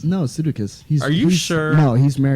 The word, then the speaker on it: Sudeikis: And Jason Sudeikis, Josh... Sudeikis. Isn't it Sudeikis? No, Sudeikis. Are you he's- sure? No, he's married to my wife. Oh, okay. So I would. All right, Jason Sudeikis. No, it's Sudeikis because that's how they pronounce his name in